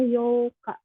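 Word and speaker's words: 八日: yang satu terus yo kalau 8 di tanggal itu dibacanya Yoka tanggal 8 hati-hati ya Ada yo Kak ada yuk Kak Yoka yang kayak gini ini sebetulnya kecil ya yuk kalau ini yokka ini itu tanggal 4 yang ini nih yang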